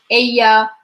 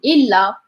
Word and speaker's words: ella: As like UTL, ella. In the beginning, I find it like very hard like to remember. It's like ella is not illa, because it was different.